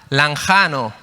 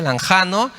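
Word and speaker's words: λαγχάνω: griego es la palabra lanjano se escribe lanchano ch sí se pronuncia lanjano y esta palabra se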